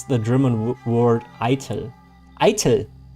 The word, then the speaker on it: Eitel: Eitel. Like I and then tell. Eitel. Eitel. It's basically like idle, but with a hard T.